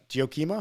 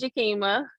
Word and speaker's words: Jakima: Giokima? Is that right? Good morning. It's Jakima.